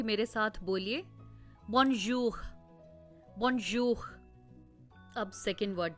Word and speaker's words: bonjour: इस वर्ड में जहां पर जे आ रहा है उसको हम ज नहीं करेंगे प्रोनाउंस, उसको हम प्लेजर में जो साउंड आ रहा है बीच में, प्लेजर, ज, बॉनजूर, ये वाला साउंड है।